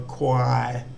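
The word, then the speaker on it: ควาย: So this word, we've got the core war, the KW consonant cluster, then a long R vowel and a yo, yak, Y final consonant, which makes a long I sound. So quai, which is buffalo.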